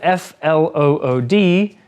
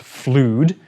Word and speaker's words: flood: careful with its pronunciation it's spelled f-l-o-o-d but it's not pronounced fluid it's flood to flood means to